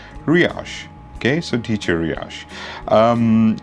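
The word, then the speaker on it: Riyash: name is ryash and how do you spell that that is r i y a s h riash okay so teacher riash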